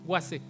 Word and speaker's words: Waze: Quizás usted lo conoce, se llama Waze o Waze, se escriben así, W-A-Z-E, Waze, pero se pronuncia Waze.